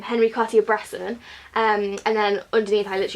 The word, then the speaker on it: Henri Cartier-Bresson: coffee it I didn't I say his name Henri cartier-bresson and and then underneath toilets you just pour